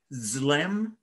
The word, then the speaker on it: B'Tselem: The word for image of God in Latin is imago Dei, but in Hebrew it's B'Tselem Elohim. You don't pronounce the letter B, it's Zlem Elohim, and that is the shadow.